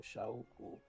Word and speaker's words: Shauku: It's Shauku. Shau as in like shower. Ooh, as in like, ooh, oh wow. And then ku, like we're ku.